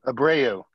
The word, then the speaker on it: Abreu: How do you pronounce his last name, Benny? Abreu.